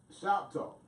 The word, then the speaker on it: NShopTalk: Speaking of voting, ShopTalk. The spelling of it is NShop capital TALK, but the N is silent, and we'll leave that there.